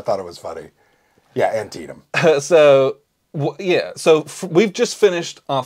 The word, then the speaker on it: Antietam: I'm pretty sure it's pronounced Antietam.